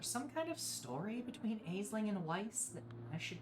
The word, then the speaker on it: Aisling: for now fun fact aisling can be pronounced Ashlyn I don't know if that's the proper pronunciation but it is heard that way a lot oh no thank you